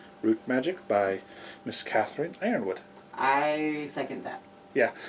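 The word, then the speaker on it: Yronwode: Magic by Miss Catherine Ironwood. I second that. Yeah. It's spelled with a Y, but it's pronounced with an I.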